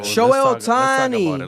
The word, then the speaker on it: Shohei Ohtani: Speaking of numbers, Shohei Ohtani, right? Oh, Did I pronounce it right? Yep. Shohei? Yeah, bro. Shohei Ohtani.